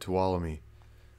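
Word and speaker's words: Tuolumne: Walla me nice now I know how to pronounce it to Walla me I like that thank you thanks 13 cool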